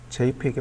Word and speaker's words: JPEG: JPEG가 JPEG이라고 읽어요. JPEG. 우리가 JPG라고 하잖아요. JPEG이 맞습니다.